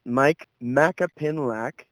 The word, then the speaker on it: Myke Macapinlac: little without further Ado let's get started welcome Mike MAA pinlac did I say it right yeah yeah I'm